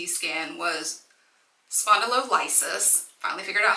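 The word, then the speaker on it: spondylolysis: what was noted on the C skan was spondo liis finally figured out how to say it facet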